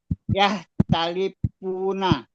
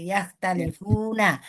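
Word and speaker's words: يختلفون: Iya, jangan dimatikan fa-nya Bu Pak. Nggak ada tasdid di situ, nggak ada tasdid. Jadi yahtalipuna. Ya, kalau tadi Bapak bacanya yahtalifuna, jadi nggak ada tasdid di situ. Ya, dia hanya yahtalifuna. Ya, jadi dia domah aja ya Pak, nggak ada tasdidnya. Jadi yahtalifuna.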